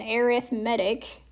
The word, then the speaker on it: arithmetic: refresher um okay now I know this is spelled arithmetic okay but we call it an arithmetic sequence and that's whenever you're